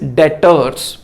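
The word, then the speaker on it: debtors: कोई फर्क नहीं पड़ा डेटर्स पर नहीं स्टॉप पर विनय फर्नीचर पर भी कोई नहीं इसको डायरेक्टर्स बोलते हैं बेवर्ड साइलेंट है डर नहीं बोलते इट्स डेटर्स कैश विड्रा गया और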